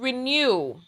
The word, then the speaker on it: Rekn(YOU)w: live inperson event so it's called renew renew renew and it's spelled r e k n apostrophe y o you right in the middle that is what's in